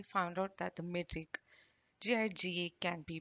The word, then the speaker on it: giga: guides for metric prefixes formalized this as hard g so the pronunciation giga is finalized i also